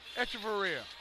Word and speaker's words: Echeverria: I was getting a clarification on Marcos Echeverria, his pronunciation. Seen it a couple ways. We're going to go for the second half with Echeverria.